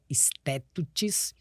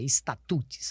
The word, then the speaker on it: statutes: com a pronúncia correta, statutes, ou você fala com o aportuguesamento da palavra, estatutes.